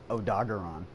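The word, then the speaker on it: Odogaron: dwyvern so we'll do oh dog leadon the best way to pronounce it odagaron why do i still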